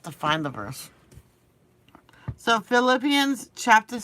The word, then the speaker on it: Philippians: we're gonna go to Philippians I can't believe I used to pronounce of philipians Philippians Philippians chapter 4 verses 6